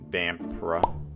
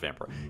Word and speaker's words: Vampyr: back with some more vampire or vampira pretty sure it's pronounced vampire anyway i know i